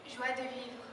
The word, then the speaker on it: joie de vivre: It's inspired by the Cajun culture in Louisiana, and she's going to pronounce it in French for you. Joie de vivre.